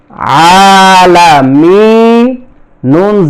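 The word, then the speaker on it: العالمين: এই জায়গায় এক জবর আছে, শেষ হরফ নুনের উপরে এক জবর, এখানে জজম দিতে হবে। তাহলে উচ্চারণটা হবে আলামিন।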